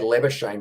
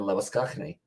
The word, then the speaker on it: Labuschagne: I think his father's got Greek origins, which is actually why they say Labuschagne rather than Labuschagne, which is the South African or Afrikaan pronunciation.